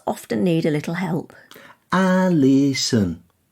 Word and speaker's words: Alison: Alison. Alison. It's the O that causes the biggest problem, isn't it? Yeah, people tend to overemphasise it, whereas a native English speaker hardly pronounces it. Alison.